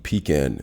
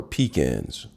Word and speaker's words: pecan: Today I'm going to show you how to eat pecan nuts. These are pecans. Some people say pecan, but the proper way to say them, in my opinion, is pecan.